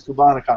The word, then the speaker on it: Cubanacan: and the company is cubanacan and I hope I'm pronouncing that correctly yeah you got it right perfect Nathan why do